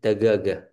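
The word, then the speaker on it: دجاجة: Daja jatun tapi kalau orang Arab bacanya dagaga. Dagaga. Jim jadi G ya.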